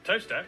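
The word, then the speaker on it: Towcester: north up to tower toaster then a quick jaunt to gotham goater followed by a stop in quite more gotham what did he say is gotham travel north up to tower sester toaster then a quick jaunt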